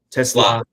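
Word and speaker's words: TeSlaa: Tesla Tesla and think, "Oh, who is this guy?"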